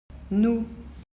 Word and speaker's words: nous: autre personne voir plus en principe on ne prononce pas le S sauf pour faire ce ce qu'on appelle la liaison c'est-à-dire quand le verbe